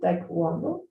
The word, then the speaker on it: taekwondo: I pronounce it the way it's in English, but that's a Korean word, right? So if you know the Korean pronunciation, you can use the Korean pronunciation. I only know the English one, so it's taekwondo.